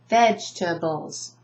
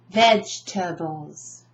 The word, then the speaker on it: vegetables: hmmm badge' to Bulls notice I do not underlined eat because it's not spoken vegetables where's the emphasis vegetables vegetables right vegetables sometimes if they have a